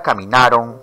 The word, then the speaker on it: caminaron: La palabra caminaron o la palabra perdieron no son palabras agudas porque no se pronuncian en el discurso oral como perdieron, caminaron. Entonces, si son palabras graves, porque la mayor fuerza de voz está en la penúltima sílaba, ¿por qué la mayoría